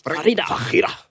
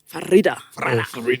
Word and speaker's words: Farida: In fact, they pronounced it the Arab way. Which is? Farida. Farida.